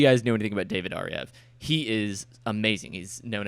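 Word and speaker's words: Ariew: david aryev yes it's a v but you pronounce it ariev he is creating a class with school of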